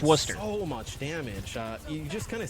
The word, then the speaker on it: Worcester: a town called Worcester in Massachusetts and it's pronounced Worcester so you just kind of see that's how